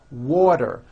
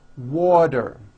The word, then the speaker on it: water: is pronounced as water the T turns into a D and the whole word is voiced water I want water vector becomes better she's